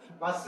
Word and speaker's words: Mars: 성은 마스. 마스, 옛날에 마르스라고 그러는데 지금은 R자를 발음해서 마스.